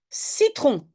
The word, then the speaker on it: citron: Citron. Oui, tu as raison, c'est aussi juste un C. Il ne faut pas de cédille avant le E et le I. Le C prononce S.